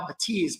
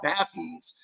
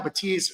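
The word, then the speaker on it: Bathys: At $849, these are the Focal Batiz. By the way, it it looks like it's spelled bathies. Uh, but the French are a little bit different and so it's actually pronounced Batis. So, it's Focal Batiz over theear wireless headphones.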